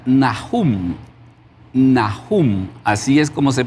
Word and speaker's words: Nahum: El nombre de Naum en el hebreo se pronuncia Nahum.